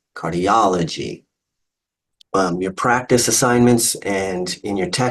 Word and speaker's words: cardiology: If we change that a little bit to cardiology, okay, you break that into syllables, cardiology, count backwards, the ultimate, penult, antepenult. It's the O or the aw sound that gets the emphasis. Cardiology, cardiology.